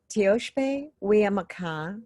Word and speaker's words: Tioshpe Wiamaka: Tioshpe Wiamaka, which is Lakota, that translates to the extended family of women of the earth.